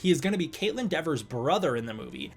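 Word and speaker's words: Kaitlyn Dever: is going to be Caitlin Dever's brother in the movie. Caitlin Devers is her name. I pronounced it Caitlin Denver the entire last video.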